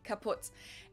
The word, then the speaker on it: kaputt: We spell it with two T's in Germany, but we pronounce it the same way, kaputt.